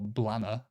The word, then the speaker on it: Blantyre: Blantyre, or Blanner, I've heard some people say.